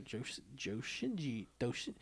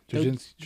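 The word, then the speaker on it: dōjinshi: Well, she wound up on the Dojinshi or Joshinji. I can't pronounce it. Dojinshi.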